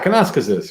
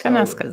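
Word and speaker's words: Kananaskis: Yeah, Kanaskasis. Yes. Kanaskasis.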